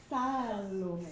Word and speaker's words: Salome: That would pronounce it right. L-O-M-E. Yeah. Okay, it's all your fault. So I'm Salome.